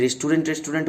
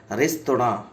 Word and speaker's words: restaurant: ঠিক আছে, আমরা যে রেস্টুরেন্ট বলি ওটা কিন্তু প্রনাউন্সিয়েশন নয়, এটা একটা ফ্রেঞ্চ ওয়ার্ড, এটা একটা ফরাসি শব্দ রেস্তোরাঁ।